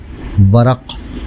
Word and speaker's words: ورق: خدمت میں حاضر ہے۔ آج کا ہمارا لفظ ہے ورق، جو درست ہے عام طور سے ورق بولا جاتا ہے، جو غلط ہے۔ اس کے معنی ہیں